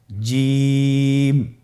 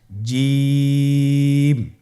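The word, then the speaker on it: جيم: আপনারা আমার সাথে করুন জিম মাশআাল্লাহ আবার বলুন জিম আপনারা চেষ্টা করুন হয়ে যাবে এর মাখরাজ হলো জিহ্বার মধ্যখান তার বরাবর উপরের তালুর সঙ্গে লাগিয়ে উচ্চারিত হয় আপনারা পিকচারে ছবিতে দেখতে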